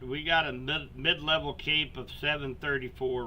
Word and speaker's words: CAPE: So, um, energy that the storms need is actually measured, uh, by a term called CAPE, and it's spelled out just like it sounds, C A P.